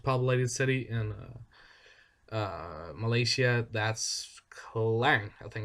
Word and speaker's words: Klang: And if we look, the second most populated city in Malaysia, that's Klang, I think it's pronounced, which is around 900,000 people.